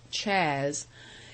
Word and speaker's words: Chaz: salmond whom everybody called chaz pronounced chas a good soul who